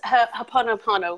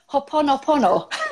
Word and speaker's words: Ho'oponopono: He cannot pronounce it either. Oh, well, that's brilliant. That's Ho'oponopono, which is a Hawaiian healing prayer and technique. Ho'oponopono.